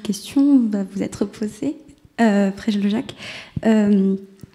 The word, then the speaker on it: Preljocaj: En fait, ça se prononce comme c'est écrit, exactement. Il n'y a aucun piège.